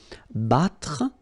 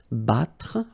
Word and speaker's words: battre: Then battre, battre, okay? Even if you've got deux T here, two letters, well, basically you've got only the sound of one, okay?